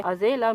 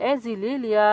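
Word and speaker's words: azalea: Sorry यहाँ पर flower के नेम में थोड़ी सी प्रोनाउंसिएशन मिस्टेक हो गई थी। इस फ्लावर का नाम एजिलिया फ्लावर है जो कि व्हाइट कलर की होती है।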